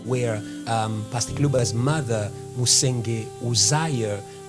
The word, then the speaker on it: Uzziah: Now, because the people of the village where she came from, they could not pronounce her name is an English name, so they used to call her Ujia, but her name is an English name.